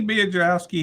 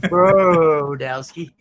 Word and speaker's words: Brodowski: So has Jamie Biedrowski, has he broke a 60 yet? You said his name wrong. It's Brodowski.